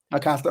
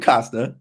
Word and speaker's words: Costa: Is it Costa or Costa? How you say it? I say Costa. Costa. Okay. Most people say Costa. Okay. In Italy, it's Costa.